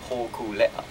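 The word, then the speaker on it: Hōkūleʻa: that's if you properly pronounce Hokulea, You're right.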